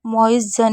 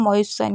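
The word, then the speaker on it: moisten: सा पढ़ रहे हैं जैसे मोइन तो इसको मोइ जन नहीं पढ़ सकते हैं मोइ सन ही पढ़ेंगे अब वजह क्या है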